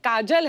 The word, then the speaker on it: काजोल: बड़ा यूनिक नाम है आपका काजोल नहीं काजल है ना ब काजल होता है काजोल म बली में का ऐसे उसका प्रोनंसिएशन पर बड़ा अच्छा लगता है काजोल बंगालियों में पूछोगे तो